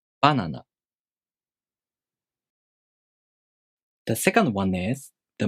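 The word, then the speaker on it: バナナ: The pattern for this word is head-high. Banana. Banana.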